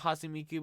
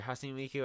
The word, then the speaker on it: Hatsune Miku: I had like little knowledge, I guess, about Hatsune Miku before, or sorry, Hatsune Miku. I keep saying her name wrong. I had little knowledge about Hatsune Miku before she came to Fortnite.